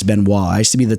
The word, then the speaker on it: Benoit: that had that same Ben Wa and he pronounced it Benoit okay so he threw me off I know it's Ben Wa I used to be the type of dude